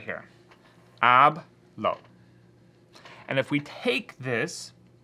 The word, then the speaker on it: hablo: ends in a vowel, the stress is going to fall on the second to the last syllable.